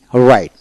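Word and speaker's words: write: ডাব সাইলেন্ট কোথায় থাকে ডব আর আই টি রাইট তার মানে ডব উচ্চারিত হবে না আরইটি ই রাইট এখন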